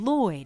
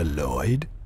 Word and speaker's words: Lloyd: of Lloyd dad no Lloyd that's right your son and it's Lloyd no ll o yd I named you was la loi on paper was that your